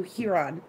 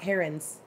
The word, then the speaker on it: heron: were called Hurons not herons so yeah so anyway so I'm like arguing with her about this and I'm like I'm pretty sure it's here on and she's like no it's heron look at they're all